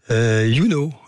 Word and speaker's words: Younau: On rappelle avec vous, YouKnow, c'est ça? Ça s'écrit YOUNAU, c'est un jeu de mots. Je ne sais pas s'il faut le préciser. Exactement. Mais donc YouKnow, on peut vous consulter sur le net assez facilement.